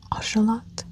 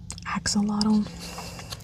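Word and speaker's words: axolotl: Um so in Spanish it is pronounced ashelot. Um not axelottle.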